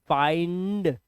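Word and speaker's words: find: जब आई के बाद एनडी या एलडी आए तो आई को आई से ही पढ़ेंगे।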